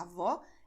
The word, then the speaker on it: avó: A avó é a mãe da minha mãe. Avô é o pai da minha mãe. Então, avó é um som aberto, avô é um som fechado.